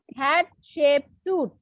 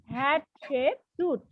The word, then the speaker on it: Hatshepsut: Yes, Hatshepsut. Hatshepsut. Okay, this is how you should pronounce it.